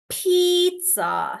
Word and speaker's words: pizza: Stages pizza. So pizza and in pizza there is the t sound.